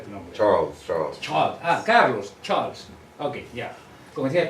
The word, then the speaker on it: Charles: ¿Cómo se pronuncia tu nombre? Charles.